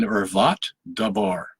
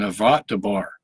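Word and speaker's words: ערות דבר: you some Hebrew here, the way it's pronounced in Hebrew, for an ervat dabar. Okay, for an ervat dabar.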